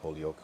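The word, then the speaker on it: Holyoke: Holy oak mass. But not like holy oak like a oak tree, but it's all one word. H O L Y O K E. Holy Oak.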